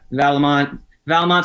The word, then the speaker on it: Vallimont: Yeah, Vallimont. Some people miss the I a little bit with it, but that's what I was going to say.